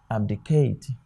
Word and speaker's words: abdicate: Remember, this is not pronounced, so it becomes abdicate.